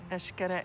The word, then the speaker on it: Xcaret: an expert and an ash gotta experience as expert so when you see these parks with the X or the hotel with the X that X is pronounced ash just so you know